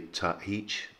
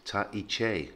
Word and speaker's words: Tahiche: I hear variously Tahich or Tahich, and actually it's Tahiche, Tahiche. So the penultimate syllable is the chi, so Tahiche. And you pronounce all three syllables of the word.